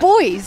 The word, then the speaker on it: buoys: Crabs, cataquacks, semi-submerged rocks, sand castles, deck chairs, buoys, coconuts, sailing boats. It's got it all. You say buoys? It's boys. It's how Americans say it.